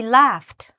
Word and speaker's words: laughed: Do you see how if you don't pronounce it properly, it can sound completely like that second word? Okay? So make sure it's really quite different when you're saying it.